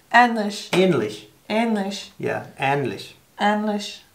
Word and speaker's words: ähnlich: Two syllables. This one is the dots. Ähnlich.